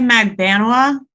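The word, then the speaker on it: Magbanua: go with your pronunciation I say magbanwa which I believe is correct okay I think we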